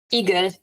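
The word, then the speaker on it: Igel: for Hedge for hedgehogs Eagle yeah see it's an eagle which means something else in English so yes but it's but it's spelled differently that's why I say hedgehog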